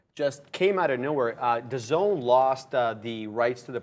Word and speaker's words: DAZN: Dazn, that's Dazn. Yeah. That reminds me of my cousin who pronounces every name wrong.